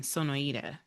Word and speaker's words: Sonoita: But they are the owners of Arizona AZ Hops and Vines down in Sonoita. Did I pronounce that Sonoida, right? Sonoida. Sonoita. Okay.